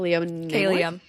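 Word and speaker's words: Kaylia: Ko Kayia. Kayia. It's like Kayla, but not Kayia no more.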